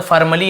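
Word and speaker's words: formally: होता है वैसे तो फॉर्मली ऐसे बोले आर को साइलेंट फॉर्मली फॉर्मली का मतलब णता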